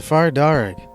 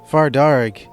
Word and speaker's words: Far Darrig: and ominous abilities the far dark also known as far D is one such creature of Irish mythology farar is an anglophone pronunciation of the Irish words fear and dere meaning Red Man the